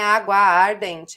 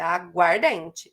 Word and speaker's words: aguardente: Não é água ardente, é aguardente.